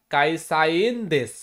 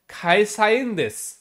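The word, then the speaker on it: 会社員: হচ্ছে subject marker কাইসাইনস কিন্তু জাপানি ভাষায় এই সিরিজের অর্থাৎ কে সিরিজের যে বর্ণগুলো আছে সাধারণত এগুলো খ উচ্চারণ হয় তাই আমরা বলবো খাইসাইনস এটা হচ্ছে জাপানিজরা বলে কাইসাইন বলে না খাইসাইনস আমি কোম্পানির কর্মচারী দ্বিতীয়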